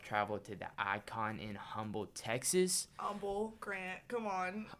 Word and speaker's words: Humble: That makes no sense. Why not just spell it Umble?